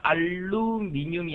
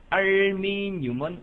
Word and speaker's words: 알미늄: 알루미늄이 아니고 알미늄입니다. 혼돈하지 마세요. 알루미늄은 합금의 이름이고요. 알미늄은 원소의 이름입니다.